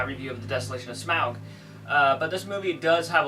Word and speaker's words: Smaug: a lot more about Smaug, and yes, it's pronounced Smaug.